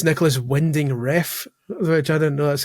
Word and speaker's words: Refn: Guillermo del Toro, and apparently it's Nicholas Winding Refn, which I didn't know that's how you pronounce it. I always thought it was Winding Rain, but apparently it's Nicholas Winding Refn.